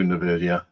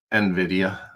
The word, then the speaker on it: Nvidia: to laugh all right let's see if we can do n video nvda Nvidia is probably a better pronunciation all right so in